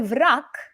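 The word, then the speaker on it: враг: a rule if you have a voiced consonant at the end of a word you D voice it so and that's why vrak and Tak are perfect they're a perfect rhyme because they're both pronounced with a K on the end okay so let's do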